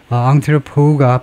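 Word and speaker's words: entrepôt: 두바이와 같은 대한에 두바이는 물론 fin바이는 UA에 점점 더 중요한 세계적인 금융 앙트로 앙트로우가 발음이 앙트로우 맨 뒤에 발음이 T가 발음이 안 되는 거 보면 프랑스어죠. 프랑스에서 마지막 자원 발음을 하지 않습니다.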